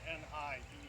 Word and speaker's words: Nienhuis: I'm Hernando County Sheriff Al Nienhuis. It's spelled Nienhuis, and it's pronounced Nienhuis.